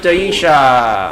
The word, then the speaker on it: Daisha: Someone has an imagine, and we have Daisha. Daisha. Is here. Daisha. Daisha like Daisha Breedlove.